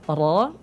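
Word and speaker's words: ر: Ya, cara pengucapan ro atau sifatnya atau karakternya, dia tebal, berat. Ya, ro itu ditebalkan. Caranya bagaimana tadi? Diangkat pangkal lidahnya. Ya, pangkal lidahnya naik, pangkal lidahnya diangkat.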